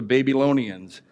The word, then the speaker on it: Babylonians: the those are the babylonians and I love that word I know some people say that I mispronounce it then it should be like Babylonians but I think baby alone Ian's is so much cooler